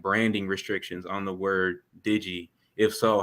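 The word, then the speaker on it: Dygi: spell it so it's pronounced Digi but it's spelled d-y-g-i I love it I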